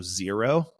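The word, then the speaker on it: Xero: the number eight um also zero as the name says they specialize in zero drop shoes it's spelled x e r o and there's also the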